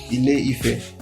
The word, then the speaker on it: Ile-Ife: Anyways, and how it's pronounced this today, of course, is Ile-Ife.